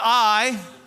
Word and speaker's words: Ai: a city called Ai. You can't make this up. They went to I, as is properly pronounced, Jay showed us last week.